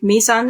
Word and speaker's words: Mizan: And on that note, if you feel ready to, let's drift into the therapy that you work with, Mizan. Am I pronouncing that right?